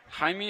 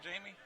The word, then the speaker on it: Jaime: Jaime, you sure that's not Jamie? It may be Jamie. I knew a guy in college whose name was spelled like that, and it was Jaime. So there's. Jaime Hernandez. but that Jaime was from Spain, so he wasn't from Nashville. Jamie We're Hernandez. gonna stick with That's Jamie.